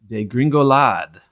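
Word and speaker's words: dégringolade: My word is degringolade.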